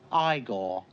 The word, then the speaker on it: Igor: i see you must be igor no it's pronounced igor but they told me it was igor well they were wrong then weren't they of